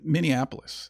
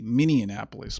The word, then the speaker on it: Minneapolis: Now, this happened in Minneapolis. I used to pronounce that city Minianapolis, but I was corrected by by the locals there. Thank you for that. Uh the police in the precinct in Minneapolis, they were chased out by the mob.